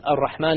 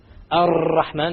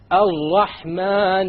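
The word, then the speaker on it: الرحمن: You cannot allow the tongue to roll. Ar-Rahman is a mistake. Ar-Rahman Ar-Rahim. No rolling.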